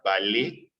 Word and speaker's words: Valois: valores en francia bueno la palabra se escribe en valois pero se pronuncia vale no en francia si